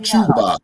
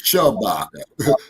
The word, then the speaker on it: Shabaka: Okay, no, it's not Chewbacca. It's Shabaka.